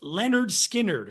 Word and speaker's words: Lynyrd Skynyrd: with the first one pronounced Leonard skinnard from 1973 aside from